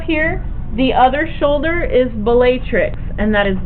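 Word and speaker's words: Bellatrix: juu is up here the other shoulder is batrix and that is b e l l a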